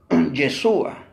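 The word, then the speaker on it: ישוע: Según hay muchas personas, claro que en hebreo se pronuncia, bueno, lo que me he enterado, el nombre de Jesús se pronuncia Yeshua, su nombre hebreo.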